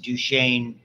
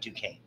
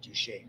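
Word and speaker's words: Duchenne: which brings us to I pronounce it duchan not Duan okay I know Dr hwi seems she calls it duan's I call it duchaine that's my my eldest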